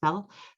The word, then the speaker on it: FFEL: loans uh print or ffel which is pronounced bell so fell loans perkins loans and parent